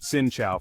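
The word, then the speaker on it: Xin chào: all even a simple Shin Chow pronounced sincha for hello or cam on pronounced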